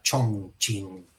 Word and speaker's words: Chongqing: conozco, que se llama Chongqing. CH hay 4 en chino, así que no me voy a hacer el fino y la pronuncio Chongqing.